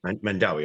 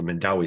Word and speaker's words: Mandaue: mispronounce this jacob then mandau city is that how you pronounce it yeah mandaue okay so the e is pronounced it's a mindaway city in in in in sibo in the philippines married with two children